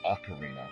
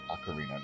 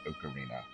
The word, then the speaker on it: Ocarina: And it is pronounced Ocarina, by the way. Which I said on Fernandez's Frustration Friday, it's Ocarina, not Ocarina.